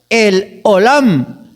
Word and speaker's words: El Olam: Y hay un nombre de Dios que se pronuncia el Olam.